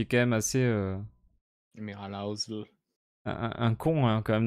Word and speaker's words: Ozzel: J'aime trop comment Vador prononce Oui. Housel. C'est Housel.